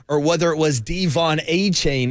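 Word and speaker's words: Achane: whether it was Devon a chain is the correct pronunciation the a chain you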